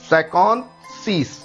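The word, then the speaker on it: cinquante-six: So if you want to pronounce 56 in French, that will be सैकॉन्थ सीस, सैकॉन्थ सीस, सैकॉन्थ सीस।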